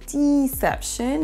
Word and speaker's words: deception: La deuxième erreur est la prononciation du i, du premier i. On ne dira pas deception, mais deception. C'est vraiment un i court et pas un i long comme le fait Mbappé.